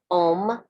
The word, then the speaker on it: Om: i'm gonna say it and then i'm gonna spell it the mantra to get in touch with sheba is om o m nama n a m a y